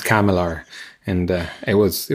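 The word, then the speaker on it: CCAMLR: abbreviation and it's usually for producing yeah it's pronounced kamilar and uh it was it was really weird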